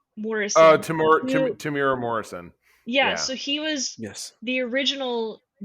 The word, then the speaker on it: Temuera: We've got however his name is pronounced, Temuera Morrison. Tamira Morrison.